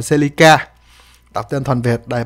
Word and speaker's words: Celica: ca con này đọc bạn đọc tên chính xác là siêu ca Nhưng mà mình hay đọc là seleca tập tinh thuần Việt